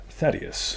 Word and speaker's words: Thaddeus: for thaddeus tony how do you say it thaddeus that is i said it right gotham yo